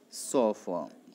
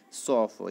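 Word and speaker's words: chauffeur: The correct pronunciation of sofa is sofa. C-H-A-U-F-F-E-U-R. The correct pronunciation of this word, student, is actually sofa.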